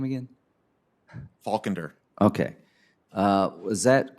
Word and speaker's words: Faulkender: faulk how do you say your name again faulkender okay uh was that correct that 21 percent